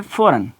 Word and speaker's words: foreign: अब वर्ड है फ़ौरन, फ़ौरन, FOREIGN। अब देखें कि यहाँ पर जो ये वर्ड है जी यहाँ पर भी साइलेंट हो गया।